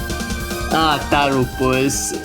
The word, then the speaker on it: Tapxynyc: I'm gonna give pronouncing the player name one more try. Tarapus? Is that accurate enough, Roby? Tarupus.